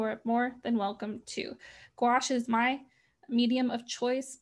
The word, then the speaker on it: gouache: Here's the gouache, pronounced gouache, not gouache or gauche or whatever. I believe it is gouache.